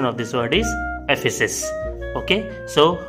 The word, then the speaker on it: Ephesus: Okay, the correct pronunciation of this word is Ephesus.